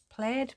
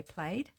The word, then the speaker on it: plaid: Plaid. Played. However you like to pronounce it. I say played.